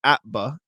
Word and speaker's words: APBA: Weekends are reading and puttering time, also sports research time, certainly basketball and Celtics, but boning up on baseball for the APBA, pronounced APBA, not spelled out.